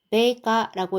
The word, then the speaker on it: 米価: 이렇게 미가라고 되어 있으면 메가라고 읽어서 쌀값을 뜻합니다. 그다음고 하면은 요거는 급등 폭등이었죠.